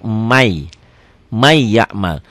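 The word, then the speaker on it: مَنْ يَعْمَلْ: Ditulisnya man ya'mal, dibacanya jadi may, jadi double y ya. N-nya hilang.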